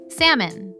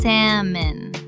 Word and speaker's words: salmon: Salmon, the fish. Oh, S-A-L-M-O-N. There's an L right in the middle. There is, and you never say it. It's salmon. The L is completely silent.